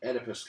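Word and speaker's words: Oedipus: is he calls the edus complex it's spelled o e d i p s edus and um what he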